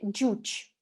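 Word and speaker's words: ӟуч: Дальше, как в слове «джуч». «Джуч» означает «русский».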